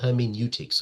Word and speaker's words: hermeneutics: So that's pronounced as hermeneutics.